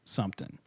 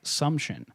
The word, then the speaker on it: Sumption: 2002 by evp enthusiast frank sumpton frank something some i i mispronounced evp enthusiast frank sumption for supposed real-time communication